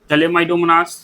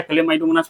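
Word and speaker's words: Chlamydomonas: euro थिक्स ball box चलेमाइडोमनास चलेमाइडोमोनास बोलिए या कलेमाइडोमनास बोलिए ये प्रोनाउंसिएशन के ऊपर है और चारा ये तीन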